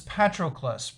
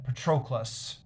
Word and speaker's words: Patroclus: I think I pronounced this Patroclus previously. I was rewatching some of Steve Donahue's videos on the Iliad, and I think I'm supposed to be pronouncing it Patroclus.